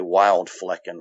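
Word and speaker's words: Wildflecken: called wild flaking okay wild flickin exactly the way it sounds that's how you'd spell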